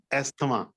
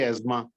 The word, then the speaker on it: asthma: So I pronounced asthma, like we usually say. And now they say asthma.